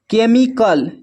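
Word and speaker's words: chemical: फिर है केमिकल, केमिकल में भी एच साइलेंट है।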